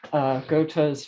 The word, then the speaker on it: Goethe: I've read Goethe's Faust a couple times.